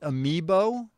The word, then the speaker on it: amiibo: gerbils mimi's we people on the screen it's pronounced amiibo thank you jama b you said you know